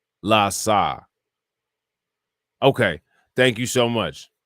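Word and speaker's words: LAHSA: los angeles homelessness service authority acronym pronounced la saw okay thank you so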